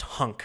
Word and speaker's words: HNC: that good stuff um hnc is pronounced hunk i like it all right hunk going forward we'll see if adrian